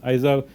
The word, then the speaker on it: IZAR: My name is IZAR, pronounced IZAR, but you can call me if you want.